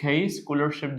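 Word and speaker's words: scholarship: المصدر رول دور سكولرشيب سي اتش بتنطق سكولرشيب المنحه الدراسيه سيرف يقدم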